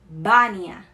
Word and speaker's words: Vânia: Na verdade, a pronúncia seria Bania, Bania, né? O A aberto, ele sempre vai ser aberto, não tem som nasal. E o B, né? O V, né? Seria B.